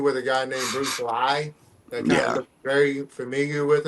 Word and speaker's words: Li: a guy named Bruce Lee that got very familiar with him. Yeah. And it's spelled L I versus L E, which is still pronunciated Lee, but you know,